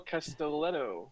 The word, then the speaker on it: Castelletto: name because I want to make sure we pronounce it correctly. Yeah, I'm right. Sure I got that wrong. Castelletto.